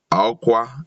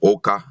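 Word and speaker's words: Awka: These we see in our towns and cities, ill written and pronounced like Onitsha instead of Onisha, Aukwa instead of Oka, Enugu, Owerri instead of Ower, and so on to please some people.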